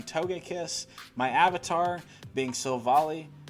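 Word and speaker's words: Sylveon: kiss my avatar being so volley i think i've been saying it wrong a lot of people say it's silva ally which makes sense too either way and then in the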